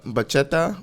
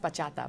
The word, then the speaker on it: bachata: like too old do you know how to bacheta or salsa or i don't like if you ask me to do it right now no but i know like the general steps okay um okay it's pronounced bachata by the way i only know how to